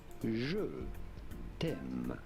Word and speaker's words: je t'aime: love you in French in the most beautiful Je t'aime. Oh, je t'aime. Okay. Well, probably butchered because it's what's it called?